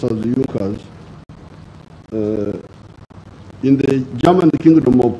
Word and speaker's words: Junkers: It's written Junkers, but it's pronounced as Junkers.